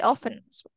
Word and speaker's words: often: it's just different often you can say often without the T okay and then next